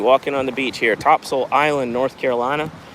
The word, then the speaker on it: Topsail: on the beach here topsil Island North Carolina it's pronounced topsil but it's spelled top top soil or